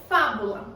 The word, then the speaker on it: fábula: Fábula. Qual é a minha sílaba tônica? Professora, é o Fá. Por que é o Fá? Porque ele está acentuado.